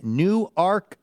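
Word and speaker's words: Newark: is Anthony Krunk in New Arc, Delaware. That is a great pronouncer. I I really not have Do you recall that from the past that it's New Arc?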